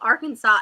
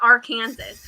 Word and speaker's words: Arkansas: can't un hear it how is arkansas called arkansas and not our kansas like that blew my